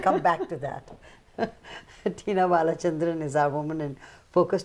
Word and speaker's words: Balachandran: women in Focus Tina balachandran is our woman in Focus today am I pronouncing your name right B perfectly right good B Tik Tac